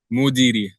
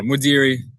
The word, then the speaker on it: Modeeri: for me cuz I think I I didn't pronounce it right. Mudiri. Mudiri. Yeah, Mudiri. M O D E E R I, Mudiri.